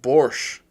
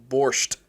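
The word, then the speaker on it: borscht: It's pronounced borch, not borched.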